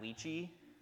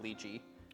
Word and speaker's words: lychee: that you get from that luchi or however you pronounce it. I I've always pronounced it luchi.